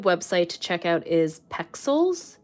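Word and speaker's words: Pexels: to check out is pixels it's like pronounced or it's spelled pixels but instead of an eye it's another E and that's like a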